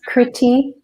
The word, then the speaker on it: Kritee: It's Kritee, Kritee, Kritee, and then Kanko, Kanko.